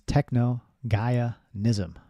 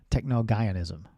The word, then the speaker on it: Technogaianism: So it's Gaia is the middle bit, and it's Technogaianism. Technogaianism.